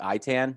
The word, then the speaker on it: Itan: or how it's spelt it's like I tan so you guys are